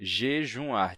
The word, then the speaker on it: jejuar: meio da palavra como no verbo jejuar certo é jejuar tinha um U nasal né de jejum jejuar Hoje em dia a gente escreve sem marcar essa nasalidade e a pronúncia sem nasalidade é é a mais comum no caso da palavra